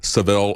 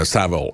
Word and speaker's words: Savile: and he called it the Saville effect a Tsavo effect sorry I keep using the American pronunciation about Jimmy Savile and